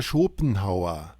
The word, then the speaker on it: Schopenhauer: Arthur Schipong. I don't want to say his name. How do you say his name? Arthur Schopenhauer.